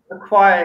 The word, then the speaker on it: acquire: very interesting yes yeah acquire acquire exactly like so ch is normally pronounced chub but in this case it's quiet like qu okay so yeah that's